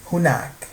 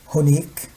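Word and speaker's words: هناك: In spoken Arabic, it's pronounced differently, of course. So some says hunak, some says hunik, some says hnik.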